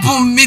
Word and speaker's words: Bunmi: Dear Bunmi, this one is the right pronunciation of my name now.